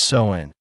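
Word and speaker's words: Samhain: The origins of Halloween go back over 2,000 years to an ancient Celtic festival called Sin, pronounced Soen.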